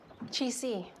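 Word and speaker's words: Qixi: the way that you've decorated for Valentine's Day quickie is that how it's pronounced Chi the Chinese celebration of love it's rooted in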